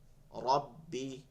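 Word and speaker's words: ربي: নিচের দাঁতের সাথে যা রব্বি ভাইঙ্গা ভাইঙ্গা বলেন সবাই রব্বি রব্বি রব্বি রব্বি রব্বি এখানে টান দেওয়া যাবে না ঠিক আছে বলে শোনেন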